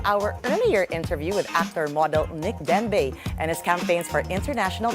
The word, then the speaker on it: Denbeigh: Joining us now in the studio is a well-accomplished film and TV actor and model, no other than Nick Denbeigh. Did I pronounce that right?